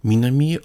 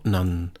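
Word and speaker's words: 南: This has the meaning south and the pronunciation Minami or Nan.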